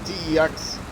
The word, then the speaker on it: TeX: uh tech text actually it's supposed to be pronounced differently teex uh latex yeah but it's supposed to be